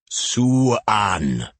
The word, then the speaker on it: Siwan: Jess had quizzed Gil about the correct pronunciation of her name on the way across from HQ. "Suan," he'd explained. "As always, Mom, every letter is enunciated in Welsh."